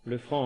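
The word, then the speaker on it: Lefranc: l'abbé François Le Franc le franc en un seul mot comme ça se prononce vicaire général à Coutance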